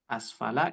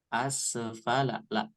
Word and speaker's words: أسفل: Asfala ini bukan qalqalah, maka dibacanya jangan asfala. Asfala la. Bukan seperti itu, tapi bacanya dialirkan asfala.